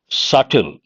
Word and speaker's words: subtle: Subtle. B is silent, means a little.